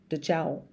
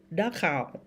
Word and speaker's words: Dachau: Dachau. I was saying it so wrong. Because when you see CH, you just want to everything. Dachau.